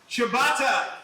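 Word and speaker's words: ciabatta: by what what type Shibata that's how it's pronounced front door your favorite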